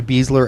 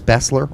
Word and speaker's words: Besler: the be and sports announcers refer to beasler as Bessler all game long I love they must have been listening to our show this entire time they must have or they may have been pronouncing his name properly think of that all